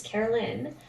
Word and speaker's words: Caroline: It's Carolyn. My mom changed it when I was a year old. It was originally, and then she changed it to Caroline spelling, but always pronounced Carolyn.